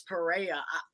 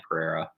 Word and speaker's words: Pereira: Alex Pereira.